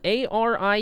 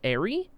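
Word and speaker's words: Arie: Uh, a r i e. Pronounce it airy. Pronounce it. Ary like airplane. Ari like pirate. are you know either way both are correct both are valid both are accepted when I first came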